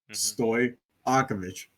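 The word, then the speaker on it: Stojaković: Yeah, J and Y are the same thing. Stoy Aovich.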